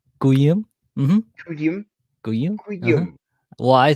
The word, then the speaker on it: Kyuhyun: yeah, you said it right, Guyum, mm-hmm, Kyuhyun.